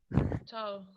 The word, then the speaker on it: ciao: Ciao. Solo que no se escribe con CH, se escribe así.